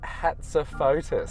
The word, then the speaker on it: Hatzifotis: Hatzifotis. That's me. Is that how you pronounce it?